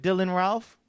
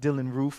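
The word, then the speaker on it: Dylann Roof: Anybody remember the story of Dylan Ralph? It's pronounced Dylan Roof.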